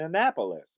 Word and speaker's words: Annapolis: Google things where you go, "How do you pronounce this word?" and it tells you? oh, that's a great idea. And Annapolis.